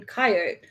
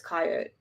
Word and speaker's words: coyote: you're right but yet three syllables emphasized first and then second two syllables is emphasize second and I'm like I don't know how we're supposed to be saying it to me coyote is a three-syllable word your coyote is